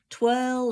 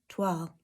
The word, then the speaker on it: toile: I hope that helps, and I don't hear any of you saying twirl or twel or toil, all the different variations that I hear regularly. I'm going to tell you, un, deux, trois, toile.